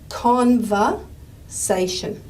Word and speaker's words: conversation: Conversation. Okay. And I know in our last lesson that we decided that the stress syllable was the say.